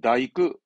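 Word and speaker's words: 大工: 이것도 발음은 사이크, 사이크. 그다음 대공, 대공이라 쓰는데 우리말은 없거든요. 이건 뭐냐면 다이크, 다이크로 읽어가지고 그 목공업을 하는 목수를 보고 얘기합니다.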